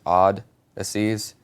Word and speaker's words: Oddysseys: It's the way that Odysseys is spelled, like normally, but with an extra D. So it's Odd-Asseys, because we're weird guys.